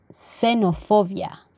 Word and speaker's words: xenofobia: examen fax el siguiente cuando la equis está al inicio de una palabra el sonido sera xenofobia y luego cuando la